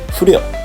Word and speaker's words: 후려: が、このハングルはフリョと発音をしますの